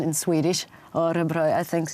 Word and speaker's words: Örebro: happy to go with my fantastic band to Örebro. I'm still working on my accent in Swedish. Örebro, I think it's still not good, and that's actually the only word I know in Swedish.